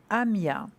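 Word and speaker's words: Haamiah: L'ange gardien, votre ange gardien s'appelle Amia. Alors, ça s'écrit H-A-A-M-I-A-H. Amia.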